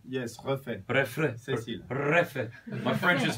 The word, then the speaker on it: Refet: Yes, Refet.